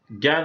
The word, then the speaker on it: জ্ঞান: যেমন জ্ঞান, এখানে শব্দের আদিতে এখানে ইয়জয় আছে, এজন্য এটা এখানে সেই আকারের উচ্চারণটা জ্ঞান হবে, আনুনাসিক হবে।